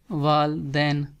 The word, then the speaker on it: والدین: Mother. So parents از والدین، first سے wall and then سے دین، والدین۔ In here day is also soft, والدین، والدین مینس پیرنٹس۔